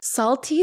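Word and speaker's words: Psalty: Okay, so it's called Salty Salvation Celebration, but salty is spelled like the word psalm, so it's P-S-A-L-T-Y.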